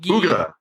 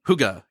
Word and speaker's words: hygge: was pronounced what hugi Huga Huga Huga Huga kind of like a hooka but not yeah and and I read